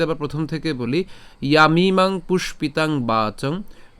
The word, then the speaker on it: পুষ্পিতাং: এরপর পুষ্পিতাং, আমরা এখানে পুষ্পিতাং উচ্চারণ করার ক্ষেত্রে কীভাবে উচ্চারণ করছি, মূর্ধন্য ষ পর্যন্ত উচ্চারণ করলাম, পুষ, এরপরে কি পিতাং, ঠিক আছে, পুষ্পিতাং।